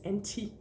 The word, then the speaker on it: anti: And note that when something is anti something in Danish, it's anti, because the I, the letter I in Danish is pronounced I, yeah?